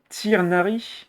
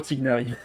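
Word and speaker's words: Tighnari: oh ok là c'est déjà plus intéressant se prononce tirnari le prier r se prononce à la française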